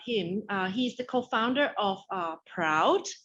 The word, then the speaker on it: PRAUD: He's the co-founder of Proud, if I pronounce correctly. Yes, thank you.